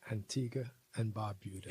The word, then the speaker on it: Antigua and Barbuda: Pronounce that right? Antigua and Barbuda.